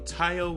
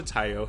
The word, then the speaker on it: Taio: about a hundred times it's thai like kai or tai not tae like bae also umbrella was passed